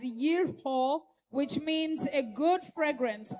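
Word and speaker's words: יריחו: In Hebrew, Jericho is pronounced or called out as yerho, which means a good fragrance or fragrance.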